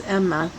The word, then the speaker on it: Emma: But the shadow side, Emma, I know it says aim, but the pronunciation is Emma, is the Five of Cups, which is despair and instability and conflict, emotions, relationships, and spiritual matters.